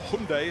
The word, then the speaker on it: Hyundai: I'm trying to pronounce it the way they like us. We say Hyundai. Yes, I know. We have to get used to it, don't we? Give it a go, or Hyundai, as some people call it.